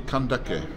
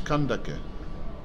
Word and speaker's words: Kandake: So the A at the end is pronounced. Mm. And so it's not Kandak.